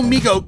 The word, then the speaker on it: Mego: please tell me we're done with Meg oh it's pronounced Mego nerd and there's more